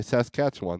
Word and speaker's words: Saskatchewan: morning SAS Koch cat Saskatchewan okay says catch one thank you Shannon uh